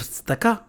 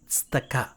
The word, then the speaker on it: tzedakah: I think it's a question of tzedakah. You mean tzedakah? Charity? It's pronounced tzedakah.